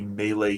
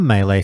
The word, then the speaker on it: melee: And I feel like they found a nice balance with the melee introduction that they've tried to do. Okay. On the melee thing, sorry, melee, I should say. I pronounce it differently to you guys.